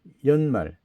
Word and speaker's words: 연말: 그다음에 연말. 해년자 나이연자 끝말. 그래서 연말이죠. 원래는 년인데이 연이 첫 머리에 오게 되면 연으로 발음하게 돼 있죠.